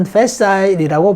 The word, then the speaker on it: facile: facile, 영국에서는 facile이라고 발음하는 사람도 있습니다. facile.